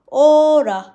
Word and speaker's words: hora: segundo minute, minuto, minuto, minuto, hora, hora, hora, हावर को बोलेंगे ओरा, H silent रहेगा, ओरा।